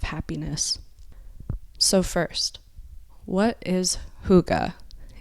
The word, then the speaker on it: hygge: own levels of happiness so first what is Huga it's an interesting word and it's spelled h y g g e and it's pronounced Huga so I'm going to read from Denmark's country